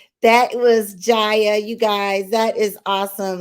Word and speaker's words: Jaya: you guys this is jaya her name is pronounced jaya and she is a 17 year old hip